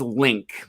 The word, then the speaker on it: LingQ: I mean, we're talking about it's pronounced Link. Makes so much sense. But everyone mispronounces it.